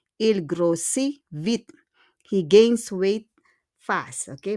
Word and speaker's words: grossit: Il y a un T, there's a T, but we don't pronounce the T. Il grossit vite.